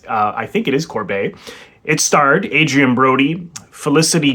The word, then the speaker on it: Corbet: pronounced correctly I've also I always thought it was Corvette but I heard heard someone interviewing him recently say Corbet uh so apologies to